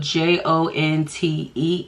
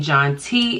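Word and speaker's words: Jontée: it wrong it's spelled j-o-n-t-e-e and I do have an accent over my first e because my mom took French in high school so instead of it being John T it is jonte Bam okay Cindy knew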